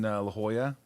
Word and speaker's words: La Jolla: down in La Jolla. Which is spelled differently than what you would think.